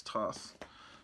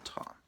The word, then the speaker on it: Toth: I like the Alex toss Toth however you pronounce it is I always pronounce it talk Toth but I guess it's toast um here's uh DC